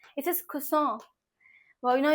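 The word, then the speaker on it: croissant: इज़ ब्रूस्केटा then is खुसों खुसों इट्स not Chris it's इज़ खुसों नाउ यू are sharing कि यार दीदी आप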